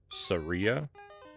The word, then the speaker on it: Saria: As long as you pronounce that I as E and not as I, then I think we're okay.